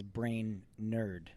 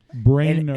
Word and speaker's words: Brainerd: his last name is brain nerd I say Brainerd that's weird the French pronunciation brain nerd brain nerd and when he said that to me when he said it's pronounced like brain and nerd I realized you can't